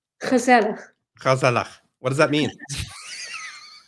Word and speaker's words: gezellig: Gezellig. Gezellig. Gezellig. Gezellig. What does that mean? Dude, I'm Jewish. I should be able to do that pronunciation. It sounds like you have like phlegm in your throat.